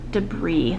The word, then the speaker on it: debris: statue slay exceptionally delis debris the s is silent on that one that's okay lab city